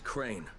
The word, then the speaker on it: Crane: the video store no my name is crane crane rhymes with train and brain and sang and green and rain and plane and the other kind of plane and can I come